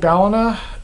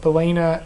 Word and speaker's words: Ballina: Yes, it's called Ballina, and that's my username, Andrew Ballina. Everyone seems to call it Ballina, and it doesn't piss me off, but I kind of find it amusing that people don't know how to pronounce it, but now you do,